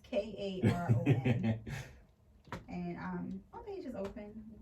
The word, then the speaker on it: Karon: It's Karon, like the Holy Quran. It's Karon. And my page is open. You can shoot me a text or a DM. And I also have a website. It's Karon.